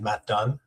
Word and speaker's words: Matt Dunne: Well, first of all, my name is Matt Dunn. Super simple, two syllables.